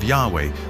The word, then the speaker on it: Yahweh: sense was God and his name was these four letters which in English would be yhw H which we think were probably pronounced something like Yahweh but Yahweh only